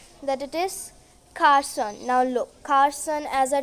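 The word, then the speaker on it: garçon: So we pronounced it Carson. You must be thinking it's Cargon. No, it's Carson.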